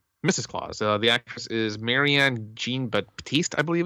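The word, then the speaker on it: Marianne Jean-Baptiste: The actress is Marianne Jean Baptiste, I believe it's pronounced.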